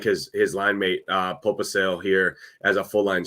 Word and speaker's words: Pospisil: And I like his line mate, Popisil here as a full line strength stacked together. Popisil has been Pospisil, I think is how you pronounce it.